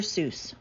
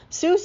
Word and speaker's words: Seuss: Fun fact, Seuss is supposed to rhyme with voice, not goose.